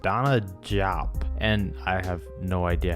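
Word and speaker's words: DeSagana Diop: Now next up we have this guy, whose name looks like a brand of pasta sauce but is pronounced Donna Diop, and I have no idea how that works, but I guess it's besides the point.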